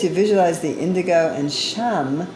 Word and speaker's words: Sham: It's a high pitch as you visualize the indigo and Sham, S-H-A-M, is the one syllable Sanskrit mantra.